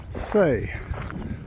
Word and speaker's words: Cee: before the descent into Thay. I asked the lady in the cafe, how do you pronounce that? It's not C, it's not Chi, apparently it's Thay.